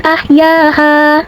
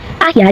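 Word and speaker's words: أَحْيَا: Maka huruf mim kita panjangkan boleh 4 sampai 5 harakat seperti fakaanama ahya ahya jika berhenti ya hukumnya matabii karena ada alif sebelumnya berharakat fatha maka jika berhenti ya panjang dua harakat ahya namun dibaca panjangnya hanya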